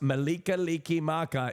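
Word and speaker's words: Mele Kalikimaka: What does Malika-liki-maka, pronounced Malika-liki-maka, is the Hawaiian phrase for Merry Christmas.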